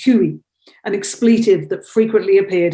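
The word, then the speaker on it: хуй: dick which is a in russian it's pronounced huey an expletive that frequently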